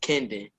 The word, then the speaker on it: Kendon: You've been saying my name wrong. It's Kendon.